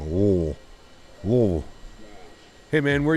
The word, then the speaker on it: Louisville: Louisville. Louisville. Louisville. Louisville. You don't even, like, pronounce it. You just, like, let it roll off the tongue. Louisville.